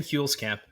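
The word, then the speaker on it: Huelskamp: probably Gonna Miss pronounce his last name Tim coolscamp is that correct uh pronunciation there very very close Tim fuels Camp fuels Camp okay um it's one of those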